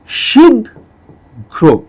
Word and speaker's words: শীঘ্র: ক, খ, গ, ঘ, এটা 4 নম্বর বর্ণ। সেই কারণে এটার ক্ষেত্রে আমাদের ঘ দুইটা আনলে হবে না, প্রথম ঘয়ের জায়গায় ঘয়ের আগের বর্ণটা নিয়ে আসতে হবে, অর্থাৎ গ নিয়ে আসতে হবে। তাহলে এটার উচ্চারণ হবে শীঘ্র, এইরকম। ঠিক আছে?